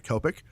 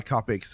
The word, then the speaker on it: Copic: But if you buy Copics, or I don't know if it's Copic or Copic, it's Copic. So however you want to pronounce that word, I always say Copics.